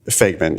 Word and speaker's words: Fagman: Is that how he pronounces his name? Fagman, yes.